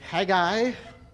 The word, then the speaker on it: Haggai: So, tonight in theory we will finish off the minor prophets with Haggai properly pronounced, Zechariah and Malachi.